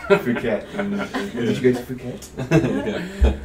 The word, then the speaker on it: Phuket: interested in going to Funkit or anywhere, because a lot of sort of, travel comes. Hey, is it not pronounced Phuket?